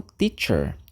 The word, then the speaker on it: teacher: primeiro deles é o Teacher teacher ó ch tem esse som T TC então teacher que é professor ou